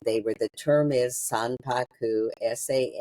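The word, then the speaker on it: sanpaku: were the term is Saku sa they weren't real Saku I'll spell that s a n p a KU which means that your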